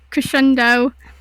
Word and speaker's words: Crescendo: mean the character yeah crescendo crescendo yeah like the like the music term chendo alright so she walks over to the pole where crescendo man she mentioned and